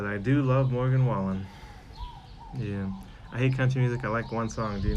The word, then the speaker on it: Morgan Wallen: I think sometimes I call him Morgan Wallace, but it's Morgan Wallen.